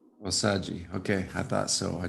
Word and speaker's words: Osajie: It's pronounced as Osajie. Osajie.